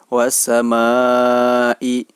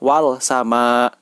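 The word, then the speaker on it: والسماء: Jadi, jika ada huruf 'al' sebelum huruf 'sin', maka ' al' tersebut tidak diucapkan dengan jelas. Cara membacanya adalah dengan langsung menuju ke 'dosa'. As-sama, was-sama, as-sama'i, was-sama'i. Oleh karena itu, sebaiknya tidak dibaca sebagai 'wal sama'.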